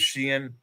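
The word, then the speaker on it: Siân: uh Welsh version is Shien. S I A N. And it's got like an accent. There's like two dots over the I and like an a triangle over the A. And it's pronounced sheen Phillips.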